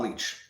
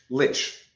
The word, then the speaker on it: Lich: okay so tamara lynch they're pronouncing it lich so it's not leech lich okay so now they're